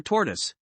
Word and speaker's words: tortoise: The term Testudines is derived from the Latin word for tortoise. The pronunciation of tortoise is confusing. The proper pronunciation is tor followed by tus.